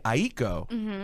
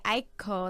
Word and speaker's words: Aiko: And then I looked and I'm like, okay, Aiko, like it's supposed to be 2 syllables. And then someone in my family explained to me that is the Japanese way to say it. You can say Aiko.